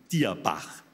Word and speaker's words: Dierbach: Nicht Dürbach, sondern Dierbach.